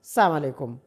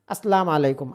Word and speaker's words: আসসালামু আলাইকুম: অনেকে বলে সালামু আলাইকুম। আসসালামু আলাইকুম। আসসালামু আলাইকুম। অনেকে বলে আসসালামু আলাইকুম। সালাম আলাইকুম। এগুলো সবগুলো হচ্ছে ভুল উচ্চারণ।